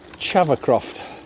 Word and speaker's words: Havercroft: So come out at Newstead, or that area, Rye Hill, Havercroft. Sometimes pronounced Chavercroft.